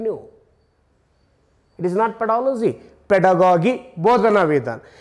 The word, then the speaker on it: pedagogy: ಇದು ಪೆಡಾಗಜಿಯ ಒಂದು ಶಬ್ದ, ಇದ್ರ ಆ್ಯಕ್ಚುಯಲ್ ಉಚ್ಚಾರ ಹೇಳ್ಯಾರ ನಿಮಗೆ, ನಾನು ನೆನ್ಪಿಟ್ಕೊಳ್ರಿ, ಸ್ವಲ್ಪ ತಪ್ಪು ತಪ್ಪು ತಪ್ಪು ಉಚ್ಚಾರ ಮಾಡಬೇಡ್ರಿ, ಇದ್ರ ಮಾನ ಮರ್ಯಾದೆ ಹರಾಜು ಮಾಡಬೇಡ್ರಿ. ಇದು ಇದೇನೈತಲ್ಲ, ಇದು ಇದ್ರ ಉಚ್ಚಾರ ಬರೀತು ನೋಡಪ್ಪ ಇಲ್ಲಿ, ಪೆಡಾಗಾಗಿ ಪೆಡಾಗಾಗಿ. ನಾನು ಸುಮ್ಮನೆ ನಿಮ್ಗೆ ಕ್ಲಿಯರ್ ಆಗಲಿ ಅಂತೇಳಿ ಪೆಡಾಗಾಜಿ ಅಂತ ಹೇಳ್ತಿರ್ತೀನಿ, ಪೆಡಾಗಾಗಿ. ಆಮೇಲೆ ನೀವೆಲ್ಲರೂ ಏನಂತೀರಿ, ಇದ್ರದ್ದು ಮೂಲ ಉದ್ದೇಶನ ಹಾಳು ಮಾಡಿಟ್ಟಿರಿ, ಇದಕ್ಕೆ ಪೆಡಾಲಜಿ ಪೆಡಾಲಜಿ ಅಂತ ಓದ್ತೀರಿ.